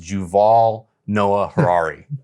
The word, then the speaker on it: Yuval Noah Harari: his name is uh according to Wikipedia it's pronounced juval Noah Harari so wait wait wait he's from Israel and